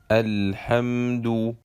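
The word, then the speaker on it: الحمد: preceded by hamza taluwas lam tarif is either pronounced or silent if lama tariff has a sukun sign on top and the following letter is not mushad we pronounce it and the lamb is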